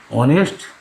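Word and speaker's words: honest: এই কনসোনেন্ট উচ্চারণ যখন আমরা অনেস্ট উচ্চারণ করব, তখন কিন্তু সেখানে এইচ অনুসৃত। অনেস্টটা এখানে এইচের উচ্চারণ ওয়ের মতন হয়েছে, সুতরাং এখানে এ না বসে ব্যবহৃত হয়েছে।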